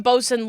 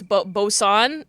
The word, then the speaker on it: boson: Well, it's not even bosun like on a boat. It's boson, like Higgs boson, right?